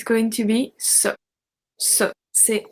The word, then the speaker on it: ces: We have C-E-S pronounced c'est.